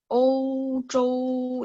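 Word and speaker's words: 欧洲: Eropa sebenarnya gini. Dari spellingan pinyinya juga beda kok. Ozhou itu Eropa. Ozhou, Ozhou itu benua Eropa. Kalau benua Australia, Auzhou, sebentar ya. Auzhou, benua Australia.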